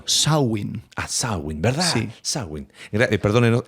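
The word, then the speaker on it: Samhain: el festival Celta de sunin que ocurra al final del verano Perdón es traducción ese pronunciación irlandesa sawin Ah sawin verdad sawin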